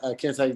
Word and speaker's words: Kente: Oh yeah, Kente like the cloth. Kentescott. So Kente like the cloth, Scott like Byron.